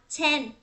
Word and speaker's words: ten: Rồi, nhưng mà cái chữ tờ mình cố gắng mình tập chữ tờ theo theo giọng Anh á, theo giọng tiếng Anh Mỹ á, mình sẽ đọc là ten. Mình không đọc là ten, ten, ten ha.